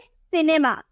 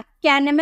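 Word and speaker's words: cinema: इसे क्या प्रोनाउंस करेंगे सिनेमा सिनेमा कैनम नहीं यहां पर हम सी को क पढ़े हैं ना तो इसे किनेमा नहीं बो इसे हम किनेमा नहीं बोलेंगे सिनेमा बोलेंगे ठीक है तो अब स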